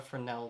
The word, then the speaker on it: Fresnel: a fresh as a fresnel fresnel fresnel i always mispronounce it it's this node here for fresnel i always pronounce the s i shouldn't okay we're going to